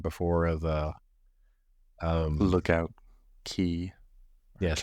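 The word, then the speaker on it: Lookout Cay: sneak preview like right before of the um Lookout key yes Lookout key I say supp to be pronounced key that's why that's the way Disney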